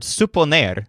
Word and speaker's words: suponer: Remember the stressed syllables sup and ner, and you'll remember that the word suponer means to guess or to suppose.